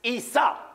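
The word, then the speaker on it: عيسى: look at the name Esau in Arabic is pronounced Isa in English translation the name Isa is Jesus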